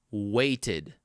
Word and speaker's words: waited: So if your original verb final sound is t or d, the ed ending is kind of pronounced how it's spelled, id. So all you have to do is just take the original verb and add id right after.